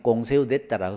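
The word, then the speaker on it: Conseil d'État: 데가 있어요 이게 프랑스 행정 재판소를 프랑스 씩 발음으로 하면 꽁 세우되 따라 그래요 여기에서 여러가지 행전 사건을 담당하고 있습니다 자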